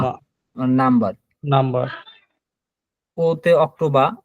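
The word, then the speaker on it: Oktober: ওতে অক্টোবা, এই দেখেন আবার রটা নাই আর মতো উচ্চারণ, অক্টোবা মানে অক্টোবর, পেতে হচ্ছে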